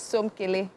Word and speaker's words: Somkele: So the pronunciation is Somkele.